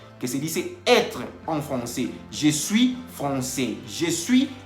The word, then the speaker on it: français: La AI en francés se pronuncia E. Entonces, por eso dice Tomás que je suis professeur de français.